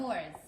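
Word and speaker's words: Knorr: Spell it. K-N-O-R-R. Oh, Noors.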